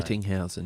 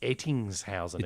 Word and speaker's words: Ettingshausen: Ettinghausen. Yeah, I think probably... It's Ettingshausen. It's got an Ettings. S. It's got an S in it.